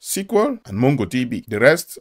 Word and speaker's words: SQL: KINDS OF DATABASE BUT THE MOST COMMON ARE SQL(PRONOUNCED, SEQUEL) AND MONGO DB THE REST ARE JUST A